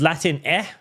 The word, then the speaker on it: Latine: It is now Latine, pronounced Latin eh.